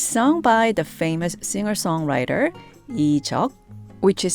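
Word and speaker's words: Lee Juck: appropriate right it's sung by the famous singer-songwriter ichalk which is spelled l-e-e-j-u-c-k in English in case anyone wants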